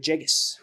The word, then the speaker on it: Villegas: How do you pronounce Camilo that? Villegas.